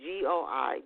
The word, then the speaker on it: Goi: Last name is spelled, in case you're looking for his books, James Goi. So it's Goi, James Goi Jr.